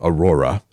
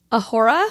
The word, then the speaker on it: Aurora: clothes and uh or Aurora don't say it aora ah I got to